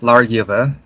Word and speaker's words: Largyfa: But yeah, I'm Largyfa. Yeah, the second part of that name is Old English, and so it's pronounced with a Y sound, Yiva.